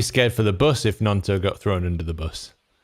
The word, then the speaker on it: Gnonto: Gnonto and Somerville, good combo. Is that Somerville the ace goal scorer? Merson on Sky called Gnonto Tonto. Says Michael.